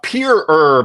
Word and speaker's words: Pierer: any doubt about that uh perer p i e r r perer i I looked up on the AI this morning how to pronounce that properly Mobility AG up 23%